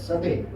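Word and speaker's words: Coedès: The author is a French author, so the spelling is C-O-D-E-C, but they pronounce it as Sade.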